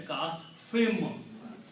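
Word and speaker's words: كَعَصْفٍ: of this meme as kasfim. Originally it's kasfin, but because of the meme which is appearing after fa, it's the sound of this noon is pronounced as sound of this meme.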